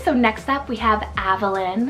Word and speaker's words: Avalyn: next up we have Avalyn it's about a-v-a-l-y-n this one also yes can be pronounced as Evelyn but I've been really